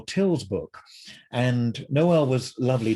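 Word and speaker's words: Tyl: dramatic noel till and a lot of people don't know how to pronounce his name and he would it would drive him crazy if people called him knoll and he'd say noel and then i've heard people call him tile and you know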